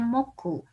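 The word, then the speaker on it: 木: Ini dibacanya Moku.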